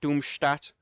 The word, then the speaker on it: Doomstadt: Yes, it's pronounced Doomstadt because well, it's pronounced that way.